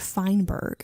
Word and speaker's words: Feinberg: So, you have the blog up of Taste and See by Margaret Feinberg is how you say her name.